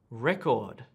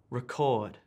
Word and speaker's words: record: So the words on the left have emphasis or stress on the first syllable, and the words on the right have emphasis or stress on the second syllable.